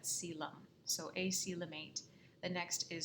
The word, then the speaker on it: coelom: And I know this word, it's spelled a little bit funny, but we pronounce that coelom.